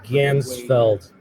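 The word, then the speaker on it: Ganzfeld: Gansfeld, not the Gandalf effect.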